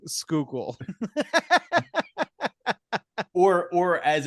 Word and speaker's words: Schuylkill: movie explicitly avoids pronouncing Schuylkill or or as it's known in uh I guess in my tongue the skoogle it's like Google but with an S yeah sure to to